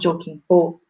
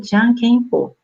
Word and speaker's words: Jokenpô: A brincadeira Jokenpô, aí eu escrevi Jokenpô, porque se você pesquisar na internet, você vai achar Jokenpô, mas na verdade ela se pronuncia Jankenpô, tá?